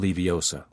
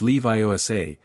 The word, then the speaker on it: Leviosa: The day's classes proceeded normally until charms where Professor Flitwick paired them up to practice the levitation spell Wingardium Leviosa.